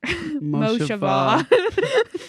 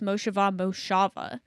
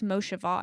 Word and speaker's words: Moshava: It's pronounced Moshava. They like posted this reel, Instagram reel a couple weeks ago. It's a classic. And a lot of people pronounce Moshava, but it's Moshava, and so it was like this funny reel.